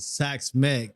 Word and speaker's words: Xaks Mek: how to pronounce it sax Meck is the correct pronunciation so it's basically my